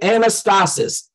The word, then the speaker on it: anastasis: used in in Hebrews 6 is an estate anastasis on anastasis anastasis all right I'ma spell it out for you for the note takers